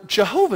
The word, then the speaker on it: Jehovah: It's YHWH in our historical way of hearing it, but it's Yahweh or Jehovah is another way to say it.